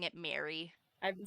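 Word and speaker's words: Mairi: I've been pronouncing it Mary. I've been saying my and see I hear ma it's like Mari is what the audio book says is Liam Mari Mari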